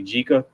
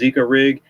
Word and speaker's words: Jika: It's spelled J. A lot of people say Jika, but it's pronounced Zika rig.